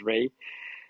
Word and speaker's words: Rei: Network actually uh the the true translation of our project is Ray you can pronounce it as Ray um so rain network